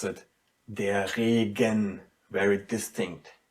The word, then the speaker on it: Regen: And in between two vowels, the softness is very stressed. So what do we have to do here? You have to pronounce it der Regen, very distinct, der Regen, which means the rain.